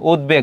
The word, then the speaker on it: উদ্বেগ: উদ উপসর্গের সঙ্গে ব থাকলে ব উচ্চারিত হয়। যেমন উদ্বেগ খুবই গুরুত্বপূর্ণ।